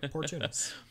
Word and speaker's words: Portunus: But you said it right, Portunus.